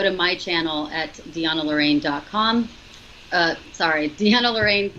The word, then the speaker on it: DeAnna: I want to spell that because, it's not Deanne, it's Deanna. Deanna.